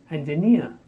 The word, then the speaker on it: engineer: I am an engineer the stress on the last syllable near engineer next 42 enormous enormous